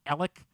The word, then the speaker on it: Alex: what what is that the guy's name is Alex and it's Alec somehow like I'm supposed to believe that a-l-e-x is pronounced Alec what the hell is